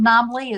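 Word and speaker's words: NAMLE: Is that how you pronounce Yeah, it? NAMLI is how I pronounce it, the National Association for Media Literacy Education.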